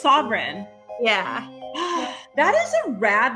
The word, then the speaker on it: Savaryn: Savaryn. Yeah, like a king is sovereign, but it's spelled differently. That's usually how I explain it, like a sovereign monarch. Oh, cool. So it's Savaryn.